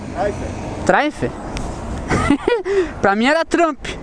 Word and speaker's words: Triumph: Como é que se pronuncia, Richard? É Triumph? Como é que é? Triumph.